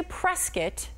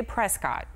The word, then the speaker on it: Prescott: and now I know that I better say Prescuit and not say Prescott because Ding ding. Yes. You're in Arizona, you better say Prescuit.